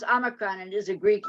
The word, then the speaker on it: omicron: make any sense omicron is a um it's pronounced omicron and it is a greek letter and i